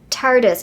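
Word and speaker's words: Tartiste: then i finally realized it's like artist protigo but it's tardis protogo finally dawned on me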